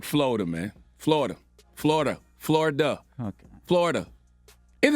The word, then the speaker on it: Florida: Florida's 3 syllables. Now, y'all not gonna confuse me He now. said Florida. I asked y'all last week, is Florida 3 syllables or 2? We told you 3.